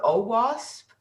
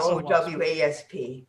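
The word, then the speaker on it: OWASP: don't i don't i do people pronounce it oh wasp yes oh wasp if you want to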